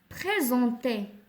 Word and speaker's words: présenter: Alors, il est quand la lettre S entre deux voyelles, كتنطق Z. Présenter, غنسطرو على présenter حيت عندنا S كتنطق Z.